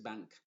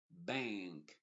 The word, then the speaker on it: bank: es una n modificada se va a pronunciar como una n nasal y la k siempre se va a pronunciar como tal por ejemplo B rank